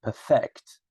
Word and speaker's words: perfect: I'm not saying perfect, huh? Perfect. So the first syllable.